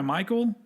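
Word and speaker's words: Michale: And on top of that, it's weird because his name is spelled Mikhail Graves, but he goes by Michael.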